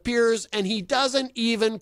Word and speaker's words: Piers: say his name right most people call him Pierce when Speirs and he doesn't even bother to correct them huh yeah he doesn't think about this okay Piers Morgan a guy who people say his name wrong constantly calling him Pierce instead of peers and he doesn't even